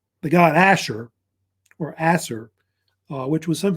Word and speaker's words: Ashur: It's actually pronounced Ashur. They say, or actually either pronounced Ashur or Assur, because it's a debate about how they say the name.